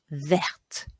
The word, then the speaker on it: verte: Listen how I pronounce that. Une grande main verte. Une grande main verte. Can you hear me pronouncing the D and the T there?